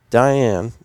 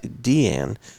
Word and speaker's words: Diane: Far West Fort Worth Diane excuse me pronounced Dean Simmons served as producer